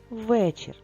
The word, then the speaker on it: вечір: чир два склади розумнички А де наголос на який звук вечір звук е в слові вечеряти наголос в другому складі в слові вечір наголос в першому складі але ми дуже чітко